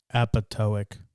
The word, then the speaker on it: apoptotic: Apoptotic. Thank you. The second P is silent.